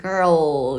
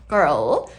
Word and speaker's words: girl: 혓바닥이 여기 이빨 바로 위에 잇몸에 단단한 부분 있죠? 여기다가 딱대 girl 여기까지 혓바닥이 와야 해요. 와서 끝나는 단어예요. girl 좀 어려운 단어였어요.